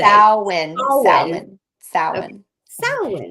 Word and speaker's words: Samhain: Samhain. Samhain. Samhain. Okay. Samhain. It's Samhain. weird because it's spelled Mhm, Samhain.